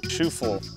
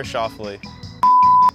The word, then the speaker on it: Schauffele: Here are some ways my name's been pronounced. Schauffele, Schuffle, Souffle, Scaffler, Xander, Schauffele, Lee, Shovel, Xavier. That was actually one of them. The guy never got the words out. My name is Xander Schauffele.